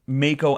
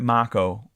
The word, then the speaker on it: Mako: this whole time I've been pronouncing Mako energy wrong now you hear at Mach Oh every every two minutes I'll